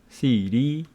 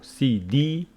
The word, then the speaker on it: CD: So that's why we pronounce this one CD and this one city. So CD, city. And USA, USA. Abbreviations carry their stress on their final syllable.